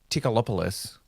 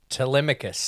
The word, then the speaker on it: Telemachus: I'm calling him Tom Holland because one, I don't think I can pronounce his character name, and two, I can't remember it. It was like Tickalopoulos or something. That sounds racist. Tuberculosis. Tikipidis? Telemachus.